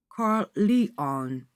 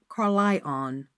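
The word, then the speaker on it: Carlyon: of all ambition save a desire to have his surname pronounced correctly karl lion he would say with polite emphasis not carlion our name is an old historical one and like many of its class is spelt one way and pronounced another now without ambition the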